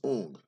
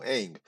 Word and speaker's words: Aang: they even pronounced incorrectly they say um my name is UNG who is UNG we don't know anyone okay we don't know any ooms we know Aang we know chorus we